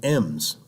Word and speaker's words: em: can use what's called m's okay eeehm it's pronounced m so i could say like 0.5 m/s okay and it's pronounced and because it's actually referring to the letter M it has actually has